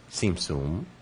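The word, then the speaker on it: Tsimtsum: The Hebrew term is simsum. Sometimes you hear you see it spelled TZ instead of TS, but it's actually pronounced with a TS sound. Seemsum and we may have an additional question here.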